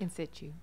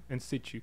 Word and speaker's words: in situ: And they got an art show coming up called In Situ. Am I saying it right? In Situ. In Situ. So it's a softer T.